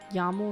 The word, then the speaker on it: YAML: Yaml is pronounced yaml with a short yal.